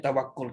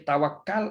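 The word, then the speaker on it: توكل: setelah berusaha cari penyelesaian, dan bukannya tawakul. Kalau tawakul di ejaannya sama kan, ta waw kaf lam kan, orang Melayu panggil tukul. Nah, dia tawakal ataupun tawakul kan, tulisnya sama tapi bacanya ialah beza. Tawakal dan tawakul.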